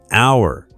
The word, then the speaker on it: hour: English has many words with silent letters, like knife, silent K, hour, silent H, and comb, silent B.